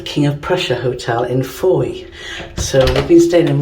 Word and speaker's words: Fowey: I've now had it on first hand that it's Fowey, even though it's spelled F-O-W-E-Y.